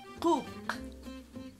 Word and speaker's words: cuc: Ardilla en MAM se dice cuc.